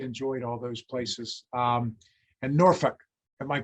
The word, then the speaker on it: Norfolk: And Norfolk. Am I pronouncing it correctly? I always would say Norfolk. And people would go, no, Norfolk.